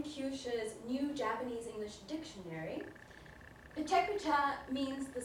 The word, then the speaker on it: Pecha Kucha: But first things first, how do you pronounce it? Well, it sounds something like this. Pecha Kucha. Pecha Kucha. Pecha Kucha. So, Pecha Kucha.